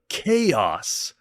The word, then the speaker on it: Kayos: We're still on the Atari home computer, and this is Kayos. Spelled phonetically for people that pronounced it Chaos, if it's too hard for you.